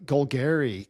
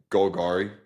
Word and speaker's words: Golgari: Golgari, Commander Cards Edition. Did I pronounce that wrong? Yeah, Golgari.